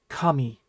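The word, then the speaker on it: 髪: All right, your hair is kami. Kami is another interesting word because hair, gods, and paper are all pronounced kami.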